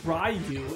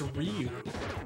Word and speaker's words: Ryu: to pronounce it's not it's not rayu it's Ryu like okay it's right